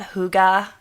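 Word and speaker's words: hygge: about this idea um I'm probably going to pronounce it wrong too it's called Huga um but it's spelled h y g g e um and you know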